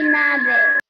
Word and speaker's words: nieve: Hombre de nieve. De nieve. See how it's N-I-E-V-E? And we pronounce each vowel. We say nieve, nieve.